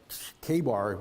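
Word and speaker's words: Chebar: sitting down by the river Kabar is how you spell it, pronounce it, but they're there.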